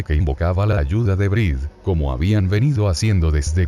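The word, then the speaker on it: Bríd: magia de los nombres, deberá pronunciar Brid, o Bride, como Brid para que no rime con Ide, pues ha sido algo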